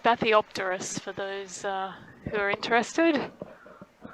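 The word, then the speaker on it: Bathypterois: as they detect something swimming by them it's pronounced bathiopterus for those who are interested yeah thanks john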